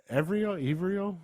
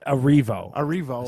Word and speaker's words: Erivo: Cynthia Erivo. How you say it? Evrio? How do you say your last name? Erivo. Cynthia Erivo.